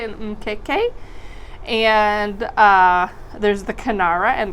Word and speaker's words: mkeka: All right, I had to look that one up to make sure I pronounced it right, an Mkeka.